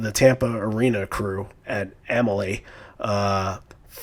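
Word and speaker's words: Amalie: you're in you know how do you pronounce it imma lay Emily and Emily arena Emily arena okay so you're there where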